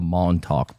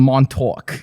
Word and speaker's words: Montauk: all these occurrences are collectively known as the montauk project this is where i wish i had